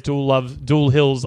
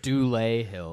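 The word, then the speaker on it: Dulé Hill: but she also plays Jewel Hill's love interest in that as well. The black girlfriend is I believe also it's in The West pronounced Wing. Dule Hill. Man, whatever. Not like Jewel Hill.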